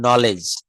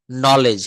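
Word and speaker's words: knowledge: এই শব্দগুলো এখানে দেখেন বলছে যে এখানে রুলটা এরকম শব্দের শুরুতে কে এন থাকলে তার উচ্চারণ হবে ন এক্ষেত্রে কে অনু উচ্চারিত থাকে যেমন নলেজ নলেজ নলেজ মানে হচ্ছে জ্ঞান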